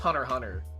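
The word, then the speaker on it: Hunter × Hunter: I know it's pronounced Hunter Hunter cuz the X is silent.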